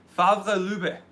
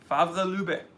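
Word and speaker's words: Favre-Leuba: Favre Lube. Favre Lube.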